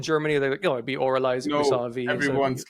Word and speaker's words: Avralize: don't know I think others are also mispronouncing this as as aiz oh yeah um so it's correctly pronounced oraly yes tell me about